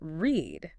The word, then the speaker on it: read: But the pronunciation, completely different. Read becomes read.